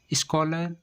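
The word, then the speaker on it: scholar: Next rule है जब किसी वर्ड के बीच में सी एच आए तो सी एच को का से पढ़ते हैं।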